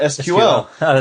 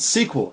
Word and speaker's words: SQL: well it's because his his whole life he called it SQL he never he never knew it was pronounced squel so make sure that